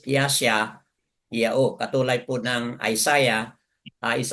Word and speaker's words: Yashayahu: But sa Yehudyat, basahin po natin as Yashayahu.